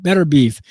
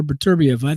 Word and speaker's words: Beterbiev: Number two is Artur Beterbiev, Better Beef. Some people pronounce his name Better Beef, but Artur Beterbiev, that dude is a monster.